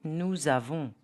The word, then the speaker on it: nous avons: If you use a pronoun plus a verb, example, nous avons. The pronunciation will be nous avons.